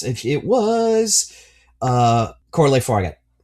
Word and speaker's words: Fargeat: Coralie The last name is uh pretty sure it's I'm pronouncing it Fargeat, but I think it's It's f a r g e a t. Is that Fargeat? Fargeat? Fargeat. Yeah, Fargeat. Fargeat.